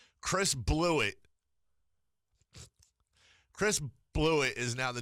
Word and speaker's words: Blewett: the Chicago Bears and it's not even like like blew it but it's spelled like weird like b-l-o-u-g-h-b-l-e-w-i-t-t like it is just blew it Chris blew it